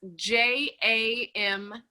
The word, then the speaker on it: Jamaa: And how do you spell that, and where is it located? It's Jamaa.